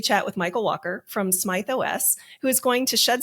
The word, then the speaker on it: SmythOS: It is SmythOS? It's Smith, actually. It is Smith. Instead of an I, it's with a Y.